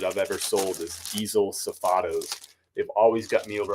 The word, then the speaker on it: Safado: saf safado is how you say it diesel safado these have always sold really well for me this is actually one of the most consistent Retail Arbitrage items that I've ever sold is diesel safados they've always got me over a hundred I've